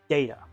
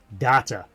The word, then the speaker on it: Data: Also, the name Data. Originally, it was actually meant to be pronounced in the American tongue of Data.